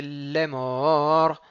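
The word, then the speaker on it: לאמר: Ensuite, Vayomer Adonai El Moshe Lemor. Donc, il y a un dagesh dans le lamed du dernier mot.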